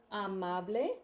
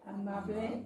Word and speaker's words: amable: So you will notice that with amable, 1, 2, 3, 4, the fourth one in, that even has 2 A's, and both the A's have the ah sound, and that's because Spanish is just trustworthy like that.